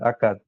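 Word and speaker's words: عقد: in Arabic called aad people easily pronounce akad aad it's not it's like that it's not simply a okay so today inshah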